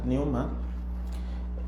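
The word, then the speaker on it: pneuma: Les quiero leer eh la palabra original del griego, que es es la palabra newma. Se escribe p n u m a p neuma. P neuma. Y recuerdo que se pronuncia newma es la palabra 4151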